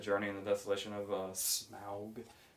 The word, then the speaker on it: Smaug: in the Desolation of Smaug. I guess that's how you say it. I guess you say it like OW instead of like, smoke and fog.